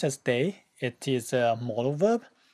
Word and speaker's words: 得: When it's pronounced as day, it is a modal verb.